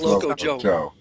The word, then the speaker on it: Loco X Joe: Loco X Joe, I think it's just Loco Joe. You don't pronounce the X in that case.